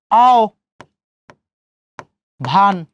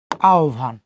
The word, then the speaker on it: আহ্বান: এখন আও ভান, এখন এখানে হর্ষ দিতেও পারেন নাও পারেন, কোনো সমস্যা নাই। আহ্বান।